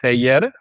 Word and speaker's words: Celler: It's CELLER. So it's like Seyer Yeah.